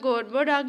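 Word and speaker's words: Gorboduc: उसके अलावा जो था गोरबो डाक जो था ना, गोरबा डाक या गारबो डाक, ये मुख्तलिफ़ किस्म के लोग मुख्तलिफ़ किस्म की प्रोनाउंसिएशन करते हैं, इससे कोई फ़र्क नहीं पड़ता।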